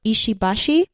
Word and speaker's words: Ishibashi: mono cabit you know no no stress on the syllables and I I I've